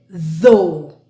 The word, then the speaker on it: though: Now, do you notice there's a th? So your tongue will go out. So we have then OUGH. All of this sound is long O. So O, though, O, though.